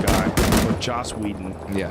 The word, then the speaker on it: Joss Whedon: This poor fucking Josh Whedon guy, or Joss Whedon.